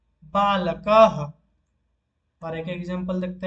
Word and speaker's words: बालकः: और जब हम विसर्ग को उच्चारण करेंगे वो ह जैसा उच्चारित होगा, जैसे कि गोपालः। और एक एग्जांपल देखते हैं, बालकः।